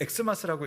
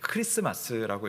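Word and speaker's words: Xmas: 근데 우리가 엑스마스라고 읽으면 안 돼요. 네, 크리스마스라고 있습니다.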